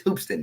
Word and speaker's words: Hoopeston: don't think I am as Hoopeston it's Hoops in you guys oh you